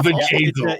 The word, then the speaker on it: Bjayzl: Bjayzl. It's a B. Stop. It's a I B. need you to really pronunciate the B. It's not a V as in Victor. It's a B as in boy.